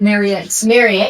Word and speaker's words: Marriott: Marriott.